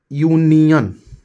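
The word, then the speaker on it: union: हम लोग क्या लगाएंगे जैसे यूनियन य य नियन है तो य यू ऐसे लिखते हैं ना यू य आ रहा है कंसोनेंट उचार आ रहा है तो यहां ए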